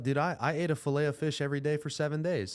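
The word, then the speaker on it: Filet-O-Fish: I I ate a fileto fish every day for seven days how do you pronounce it fileo fish fileo fish you couldn't pay me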